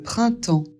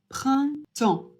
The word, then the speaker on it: printemps: Le printemps I et N, ça fait 1.